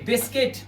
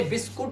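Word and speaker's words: biscuit: ऐसे देखिए बिस्किट, इसे बिस्कुट नहीं पढ़ते, बिस्किट पढ़ते हैं, यू साइलेंट।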